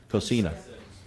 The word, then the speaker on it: Cocina: And then you also have the restaurant that's there, the Cocina. Am I pronouncing that correctly, Rob? Cocina. Yeah.